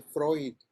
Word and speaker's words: Freud: Euler, esta palabra se pronuncia Euler, es un nombre alemán, es como la palabra de Freud, no sé si han visto el nombre Freud, se escribe Freud. Entonces todas las palabras que sean alemanas y tengan EU, suena como OI.